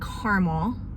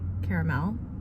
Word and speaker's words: caramel: They had caramel, or if you pronounce it correctly, caramel. I know it's right.